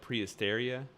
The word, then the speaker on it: Prehysteria: right there prehistoria how do you say that prehysteria yeah prehysteria yeah dude there was freaking three